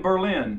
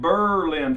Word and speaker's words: Berlin: update the move well I'm in Bur L New Hampshire they pronounce it Berlin for a good reason my fifth Camp it